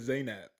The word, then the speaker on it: Zainab: First off, I think her name is Zainab. I don't think it's Zanab.